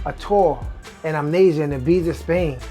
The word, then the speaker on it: Ibiza: tour in amnesia and ibiza spain or ibiza the way they pronounce it before hip-hop knew